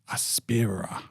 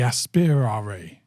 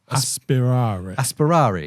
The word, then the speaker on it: Aspirare: It's their tool watch, and it's called the Aspirare. Aspira? No, the Aspirare. The Aspirare. It's basically, it sounds like Aspire.